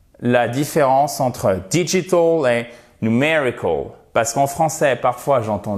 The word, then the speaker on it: numerical: Il s'agit de numerical, et pas numerical, mais numerical, avec un accent tonique ici.